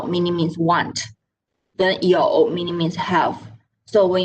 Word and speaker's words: 有: Okay, 有. Circle your mouth. Don't open it wide because we will have another word in the future. Okay, 有 it's YOU with a tone number 3, meaning means have.